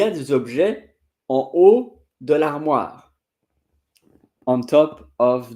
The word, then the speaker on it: haut: Il y a des objets en haut de l'armoire. On top of the on the furniture. En haut, en bas. Haut and bas, the H, by the way, are not pronounced.